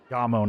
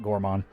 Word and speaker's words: Gammon: cart I'm sorry gamon Gammon is the name not Gorman I mispronounced that yeah you see him